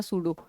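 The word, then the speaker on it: pseudo: नाम आता है ना सूडो पी एस ई यू डी ओ पी इ silent over here जहां पर भी सूडो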